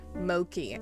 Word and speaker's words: Mochi: My dog's name is Mochi, but pronounced Moki.